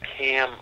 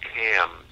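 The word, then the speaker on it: Kamm: Now, the ironic part of it is, have you ever heard of the CAM effect? No. It's spelled K-A-M-M, and it's named after a German scientist named Winnebald Cam.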